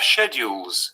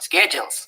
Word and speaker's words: schedule: american counterpart involve h in gb we have schedules with ash but in america they are schedules gb chefs like the